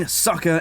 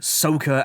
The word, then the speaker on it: Sokka: This will be the trio of the entire story, the unbreakable group of heroes, Aang, Sokka, and Katara. Or, in this movie, Ong, Sokka, and Jotaro.